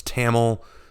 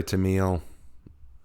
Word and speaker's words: Tamiya: pronunciation of Tamils name some of said it's Tamil some said it's 2-mile I say to me I'll again someone's gonna correct me but he's my character so I'll call him what I want